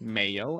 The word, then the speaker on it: Mayo: But yeah, like it or not, even though it's spelled the same as mayo as in mayonnaise, it's Spanish because guess what? It's a Mexican restaurant. So, I am going to pronounce it how they do.